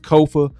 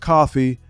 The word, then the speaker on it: Kofa: I am your host, Kofa, Kofa, not coffee, not, not Kofi, or any variation thereof. Kofa rhymes with sofa, easy to say, easy to spell.